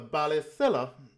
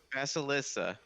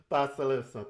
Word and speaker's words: Basilissa: of Fidor with the I might be saying it wrong. The Balisella or Steve, I know you want to correct me there. What was it? Temple. Basilisa. Basilissa. Thank you.